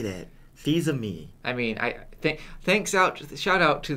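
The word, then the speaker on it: Fils-Aimé: Well, I mean, they teach me ami and fils, so Fils-aime.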